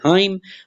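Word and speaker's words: hymn: फिर उसके बाद है जी हाइम, हाइम में आपका क्या है, N साइलेंट है।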